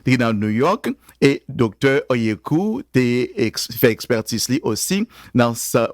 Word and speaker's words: Oyeku: L'autre invité que nous gagnons c'est le docteur Suzette Oyeku. Am I saying it right? If it was for French, I would say for Oyeku, but c'est Oyeku.